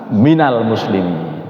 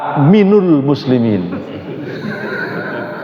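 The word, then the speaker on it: من المسلمين: Ah kita membacanya wa ana minal muslimin. Yang salah yang apa? yang salah memadukan antara awalul muslimin dan minal muslimin. Akhirnya wa ana minul muslimin. Itu minul. Saya dulu pernah diprotes oleh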